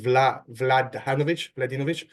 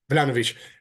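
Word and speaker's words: Vlahović: I think you pronounce it Vladinovic. Sorry? Vlahovic.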